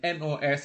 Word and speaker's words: nos: So those MES, TES, SES, those are possessives, and NOS is also possessive. Are possessives, and NOS is also possessive. So, and it is no, and then VOS is also possessive.